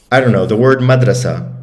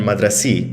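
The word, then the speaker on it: مدرسة: So for example, like let's say, I don't know, the word madrasa or madrase, it can be pronounced madrase, madrasa, and madrasi. If you're from the north, they say that tamarbuta like e.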